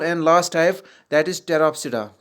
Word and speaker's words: Pteropsida: और number 4 and last type that is टेरोप्सिडा। इसमें भी पी साइलेंट रहता है, PTEROPSIDA, टेरोप्सिडा।